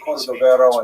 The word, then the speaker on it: Cordovero: his Matseva, his gravestone, it's Cordoero. It's a Portuguese spelling, but it's kind of a strange thing to pronounce in Hebrew, so it was sort of mangled into Cordovero, and that has become the standard, even though it's probably not correct.